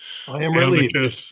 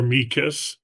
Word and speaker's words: amicus: All lawyers are familiar with blacks says that either pronunciation is correct. Amicus or amikus. I tend to say amicus. Others I heard Dr. Nika say amikas. Either is proper under black's law dictionary.